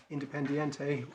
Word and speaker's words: Independiente: tab 12 is the independente case so this was a decision of um vice chancellor and in this particular case it was independiente that's the right way to say their name who was suing as